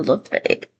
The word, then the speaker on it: Lafayette: Okay, let's move over to Lafayette.